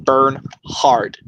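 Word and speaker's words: Bernhardt: Yes, with Chuck Norris, Johanna Pukula, and Daniel Bernhard. Even though it has a T at the end, it's still pronounced Bernhard. It's still pronounced the word hard.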